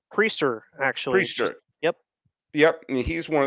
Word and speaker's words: Priester: uh is it Quinn price is how you pronounce his name preacher actually yep yep he's one of their top